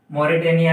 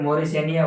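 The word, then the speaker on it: Mauritania: तो देखो W फॉर क्या है आपका वेस्टर्न सहारा, M फॉर क्या आएगा आपका मोरिटेनिया या फिर मोरिशेनिया, ओके, अलग अलग प्रोनाउंसिएशन करोगे, मोरिटेनिया, ओके।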